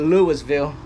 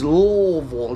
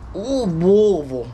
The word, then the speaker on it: Louisville: It ain't Louisville. It's Louisville. It's like you got to like, you know, you got drink in your mouth. Louisville. That's the way you say it. Louisville. Louisville, Kentucky.